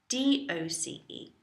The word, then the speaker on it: doce: It's spelt doce, D-O-C-E. So you have once as once. Doce, take the D from dos, meaning number 2. Dos becoming doce.